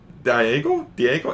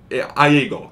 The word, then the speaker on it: Iago: You also got some hilarious animal supporting characters in Abu and Diego? It's not Diego. Iago. It's with an I.